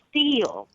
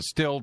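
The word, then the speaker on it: Stihl: TV and it's called now it's called a steel right yeah I know what you're talking about it's spelled the same but pronounced differently right I know what you it's s l and you're saying that the still chainsaw is called steel yeah now they call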